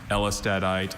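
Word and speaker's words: ellestadite: Elistadite is a variety of calcium phosphate mineral containing silicon, carbon, and sulfur, replacing some of the phosphorus.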